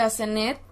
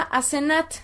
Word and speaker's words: Asenat: Y se pronuncia Asenat. En hebreo lo pronuncian como Asenat, aunque podría ser Asenat, podría ser Asenet o Asnut, Asnet, es decir, hay varias fonéticas.